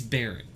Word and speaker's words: Barret: nathan yeah so cool is that how you pronounce his name uh he's barrett barrett yeah he's barret and he's got a